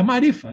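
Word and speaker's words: معرفة: A gnosis sufi é marifa, que é uma transliteração, marifat, mas não pronuncia o T.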